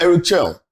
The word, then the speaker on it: Eric Schell: So Eric Schell, which is the way to pronounce his name, he himself said the man himself said is Eric.